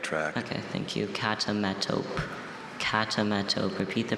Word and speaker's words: catametope: Catametope. Catametope. Repeat the pronunciation, please.